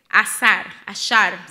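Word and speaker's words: עשר: En su original es ashar se pronuncia.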